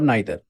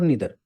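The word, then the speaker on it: neither: तो ये आपके चॉइस के ऊपर है, आपको क्या अच्छा लगता है बोलने में, आइदर और नाइदर, आइदर और ईदर, नाइदर और नीदर।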